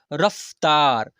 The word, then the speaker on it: रफ्तार: ऐसे फिर यहां पर र फ त करता और र रफ्तार यहां पर क्या लिखा